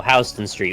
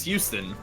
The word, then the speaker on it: Houston Street: yeah so this is Street New York and it's spelled an Hou sto and Houston's Houston Street we talk about healthy yeah yeah see that's the thing it's like you'd think it was Houston you just kind of go with the flow